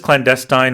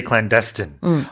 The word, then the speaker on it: clandestine: It was a clandestine tunnel. Yeah, so you can pronounce this clandestine or you can say clandestine as well. Both are accepted.